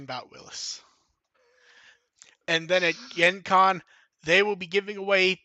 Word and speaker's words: Gen Con: you can tell you're not from the Midwest when you pronounce it GenCon, not I Gen don't Con.